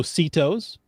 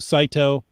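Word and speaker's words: CITO: go now there's also sitos that's not an abbreviation that is an acronym c-i-t-o cash in trash out sito saito they're pronounced many different ways tau if you're sunny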